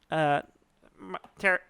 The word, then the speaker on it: Pterry: And I built a tower onto my house, and that's where I perched Terry, the pterodon. Spelled how's it spelled? It's spelled Pterry. Mm-hmm. So it's It's Terry. Terry. It's the silent P.